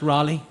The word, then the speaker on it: Raleigh: territories after you no really no no it's pronounced Raleigh so they've called this state Elizabeth you have